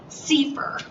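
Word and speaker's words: CFIR: framework for implementation research which is pronounced sefer okay so see for what C4 does and it helps you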